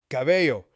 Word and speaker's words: cabello: Bring the visual and sound together, you get cab plus a plus yo cabello.